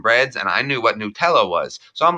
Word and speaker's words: Nutella: No, it's Nutella. Don't fight There's me. no R on it, Patrick. Nuteller?